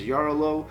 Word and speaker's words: Jarrylo: see it nomenclature is the Russian pronunciation is yaara low with the emphasis on the letter I I'm guessing it's I it's hard to tell when you're doing application